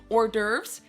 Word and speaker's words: hors d'oeuvres: The first round was the hors d'oeuvres.